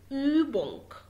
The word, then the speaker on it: Übung: تمام، بنقول عليها أو وبتديني الصوت ده أو بتبقى ضامن بقك خالص وبيطلع هواء رفيع خالص. تمام، عشان تعرف تنطقه صح. زي Übung يعني exercise تمرين Übung،